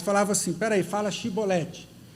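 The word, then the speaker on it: shibboleth: E e aí a Bíblia diz que os filhos de Efraim não conseguiam pronunciar chibolete, eles pronunciavam cibolete.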